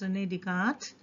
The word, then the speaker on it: René Descartes: screen he is rene descartes we have to pronounce it to be as rene descartes and let's see what the story about him